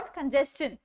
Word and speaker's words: congestion: तो जब भी TION से पहले S भी जुड़ जाता है तो वो शन की जगह पर चन बन जाता है. The pronunciation of द two words is सजेस्शन और कंजेस्शन.